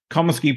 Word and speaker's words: Comiskey: So he decided to blow boxes of disco records up at Comiskey. Tell me if I'm pronouncing this, by the way. Comiskey Park, home of the Chicago White Sox. Comiskey, yes.